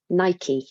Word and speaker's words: Nike: So for instance, Nike or Nike, depending on how you pronounce it, is a brand.